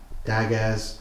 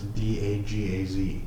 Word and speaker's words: Dagaz: Isn't it just pronounced Daga? In case you get roasted. It's Dagaz. Oh, Z. Oh, different. Dagaz, let the day break and show me the heart of the house.